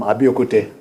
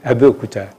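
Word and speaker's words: Abeokuta: You are from Abiokute. That's not the correct pronunciation. Okay. Abiyokuta.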